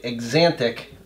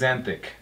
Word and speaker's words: axanthic: it's spelled with a TH, but people say exantic with just a T. It's axanthic. There's no it's A's. It's the Z sound. It's like xylophone. Okay, so Z, and is it TH or just a T? TH. Thick.